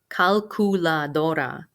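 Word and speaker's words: calculadora: on the a la calcula dora you do have to say the word ku in the middle of that word calcula calculator the word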